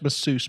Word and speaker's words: masseuse: And it's pronounced masseuse, by the way.